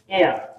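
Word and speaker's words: heir: Then হি ইজ, এটা উচ্চারণ হচ্ছে এয়ার, এয়ার।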